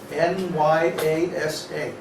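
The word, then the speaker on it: nyāsa: After you do your tilak and achama, then it's called nyasa, N-Y-A-S-A, Oh, I spelled it right. nyasa, with two long A's.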